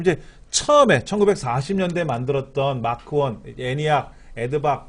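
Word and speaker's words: ENIAC: 지금까지 시험에 나왔던 것 중에는 마크원, 애니학, 에드, 유니백 애니학 예, 발음을 애니학이라고 일반 우리가 그냥 읽어요.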